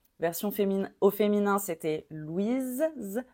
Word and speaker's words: Louis: fé au féminin c'était Louise Louise on prononçait Z avec le E final Louise au masculin le s est muet Louis celui-ci alors il peut